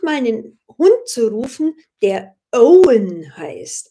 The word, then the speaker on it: Owen: Hund zu rufen der Owen heißt also oh we en Owen englisch ausgesprochen Katastrophe und alle Hunde